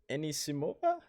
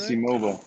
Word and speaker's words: Anisimova: So we got Wang and Enisimova, right? Yeah, saying it right. Anisimova.